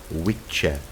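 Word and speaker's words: wicce: most likely has its roots in Old English pronounced we check this meant a sorcerer woman and is clearly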